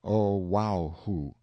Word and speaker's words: Oahu: named him after this island Oahu pronounced oh wow who the first gate he